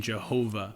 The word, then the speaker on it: Jehovah: And from these 4 letters, we get the name Jehovah, as you would pronounce it in Latin, or as we have commonly come to pronounce it, Yahweh.